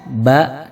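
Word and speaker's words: ب: Selanjutnya adalah makharijul huruf, masih asyafatan, dua bibir, adalah huruf mim, ba, dan huruf waw. Huruf mim, ba ini keluar dari dua bibir yang dirapatkan. Ma, ba.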